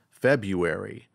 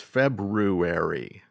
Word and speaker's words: February: Well, I thought the word the second month of the year was pronounced February, but it's February.